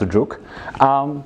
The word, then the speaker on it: jOOQ: So, for example, one of the tools like this is JOOQ, or pronounced Juk.